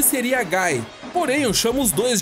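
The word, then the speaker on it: Guy: sobre a pronúncia dos nomes dos personagens a pronúncia que seria seria mais correta para hagar é hagar e do Gui seria Gai porém eu chamo os dois de hagar e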